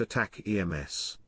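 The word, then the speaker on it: ATACMS: would send a missile called ataks pronounced attack EMS with a range of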